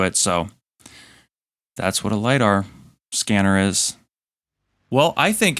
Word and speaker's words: lidar: i said was an l-i-d-a-r scanner and i knew what it was and my dumb ass said l-i-d-a-r instead of it actually being pronounced lidar um so you can